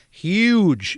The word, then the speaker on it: huge: No, huge. I know. I tried to do it right. I'm not very much of a New Yorker. You actually pronounce the H.